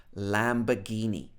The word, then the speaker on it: Lamborghini: So in British English, this would be pronounced Lamborghini. So I'm not sure whether this should be Lamborghini or Lamborghini in Italian. So please let me know in the comments.